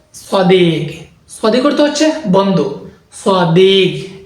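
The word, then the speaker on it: صديق: সদিক অর্থ হচ্ছে বন্ধু সদিক এটা গ হবে হবে খ হবে না গাফ সদিক সদিক ওয়ারহে কাফকে আরব অঞ্চলে আঞ্চলিকতায় গাফ উচ্চারণ করা হয় এজন্য ওটা হবে সদিক সদিক অর্থ হচ্ছে বন্ধ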